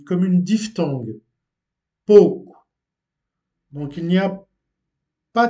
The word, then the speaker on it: pouco: retrouve O, O, ou, prononcé comme une diphtongue uniquement dans la prononciation du Nord. Donc, au nord du Portugal, contrairement à d'autres régions du pays, euh, ce mot, pouco, est prononcé comme une diphtongue, pouco.